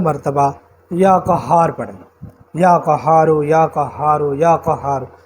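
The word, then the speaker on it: قهار: یا قہار پڑھیں، یا قہارو یا قہارو یا قہار، پورے تلفظ کے ساتھ، اور یہ ہاں کی پوری تشدید ادا کرنی ہے، یا قہارو۔ اسی تشدید میں سب کچھ ہے، آپ لوگ ان باریکیوں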